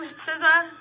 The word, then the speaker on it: SZA: How do you pronounce her name? SZA. Like she part of the Wu-Tang Clan.